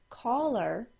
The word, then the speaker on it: caller: these sounds the words caller c-a-l-l-e-r and collar c-o-l-l-a-r c-a-l-l-e-r is said by most with an aw sound caller c-o-l-l-a-r is said by most